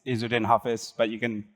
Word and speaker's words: Izzudin Hafiz: Like, last tried to pronounce it, it's Izzudin Hafiz, but you can call me Hafiz, right?